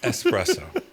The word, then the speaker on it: espresso: You don't jump on a highway. You're not on the expressway. It's espresso. But a lot of people I would guess I would honestly say Mike probably 50%.